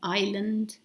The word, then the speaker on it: island: Island with this silent S, that was just a